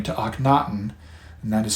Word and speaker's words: Akhenaten: his Reign he changed his Royal name to anaton and that is spelled a h n a t en there